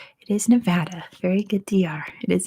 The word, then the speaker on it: Nevada: world but in the U.S state is pronounced Nevada is the correct way to say it in American English yeah it's a wild